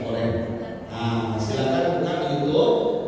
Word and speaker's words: Orange: Wah, usah Orangi, boy. Nah Orangi itu orang. Orangi itu pasukan Belanda, basket dulu. Kacau pokoknya. Pakai NG dan NY, Ustaz Orangi, bacanya Ustaz Oren.